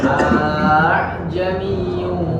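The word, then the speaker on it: أأعجمي: Nah, ini perhatikan jangan terkecoh dengan ainnya. Jadi hamzahnya di depan yang di bawah dulu. A'jami. Jadi jangan langsung ke ain. A'jami, tidak. Hamzah dulu, tashil baru ain. A'jamiyyu dan pendek saja.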